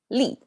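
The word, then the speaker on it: 立: here we go the first character chinese li pronounces li and written just like that this is the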